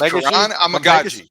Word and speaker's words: Kiran Amegadjie: do see left tackle starter potential in, you pronounce it for me again. It is Kiran Amegadjie.